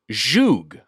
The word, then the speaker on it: zhug: Hodgman, Mitch, and we were unsure how to pronounce it. Zhug.